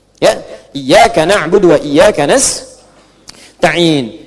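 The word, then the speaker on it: نستعين: Iyaka na'budu wa iyaka nastain'in. Ada yang baca pakai kasrah. Nista'in ya. Nistain ini bacaannya dari Bani Asad, Rabiah, dan Bani Tamim. Tapi kita baca harus menggunakan fathah kalau untuk kita ya.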